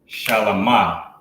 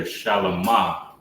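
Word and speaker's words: שלמה: King David's son, Solomon, which you will pronounce in Hebrew, Shalamah.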